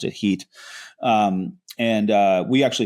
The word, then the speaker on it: Hit: along the Euphrates to this town called the HIT, we called it pronounced IT Heat.